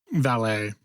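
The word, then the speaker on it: Vallée: Jock Valdi Vet Valet.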